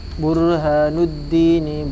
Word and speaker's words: Burhanuddin: Wa kana lan ono sapa ustaduna guru kita Syekhul Islam Burhanuddin. Jadi cara bacanya itu harus disambungkan, Burhanuddin, jangan dipisah.